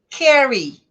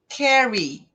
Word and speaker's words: carry: E carry, carry, né? Carry, carregar. Então, as palavras que terminam com Y no inglês, você deve pronunciar como se fosse a letra I do português, né? E bem marcado.